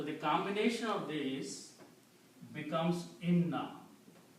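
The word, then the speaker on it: إنّا: So when you combine these two together in na one noun is not pronounced. So the combination of these becomes ina. Inam is surely we ina that's the word in the Quran.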